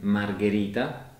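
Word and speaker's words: margherita: a good sound like in spaghetti or in margarita that is the type of pizza mm-hmm yes and these words are both pronounced with G H in the middle so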